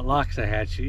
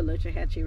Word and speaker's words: Loxahatchee: just got critiqued it's everyone calls it loxahatchee yeah i know that i was trying to get old school locha only the native americans call it the lochihatchee river because they do not have an x in their alphabet the name the river